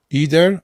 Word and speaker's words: either: Either either. Jedni mówią tak, drudzy mówią tak.